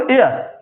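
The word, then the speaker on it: heir: ऐसे देखो एयर, तो एयर जो होता है ना, इसमें से एस साइलेंट रहेगा, ठीक है, तो यहाँ पर बचता क्या, ई, एयर, तो एयर में भी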